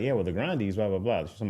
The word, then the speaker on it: Grande: It's not grande. It's actually grande. That's what she was saying. And but she was like like Ariana Grande sounded better. Like everybody ran with it sounds better. So it's like you're not going to correct anybody. Grandee the Grande.